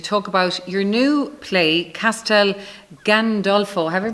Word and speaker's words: Castel Gandolfo: be here to talk about your new play Castel Gandolfo have I pronounced it correctly right yes yes there'll be